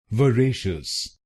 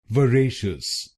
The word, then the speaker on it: voracious: Its correct pronunciation is Vareshus. Vareshus. This word has three syllables: reeshus and reeshus, so it becomes Vareshus Vareshus. In this word, you need to stress the second syllable: Vareshus Vareshus.